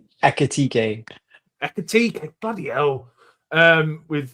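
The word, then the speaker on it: Ekitike: Akitike.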